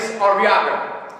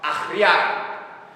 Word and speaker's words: Arriaga: It's actually pronounced Arriaga. You gotta roll your tongue and something. Come on, say it with me. Arriaga. Arriaga. Arriaga. Like a cat.